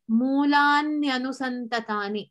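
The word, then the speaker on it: mūlāny anusantatāni: that govern its grammar, this way of saying it, Mulanyanusantatani. So here I don't clearly pronounce the word Mulani. I am combining them.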